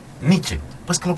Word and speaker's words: Nietzsche: Por cierto, se pronuncia Nietzsche, no se pronuncia Nietzsche, porque es alemán y se pronuncia la E final, por lo tanto se pronuncia Nietzsche.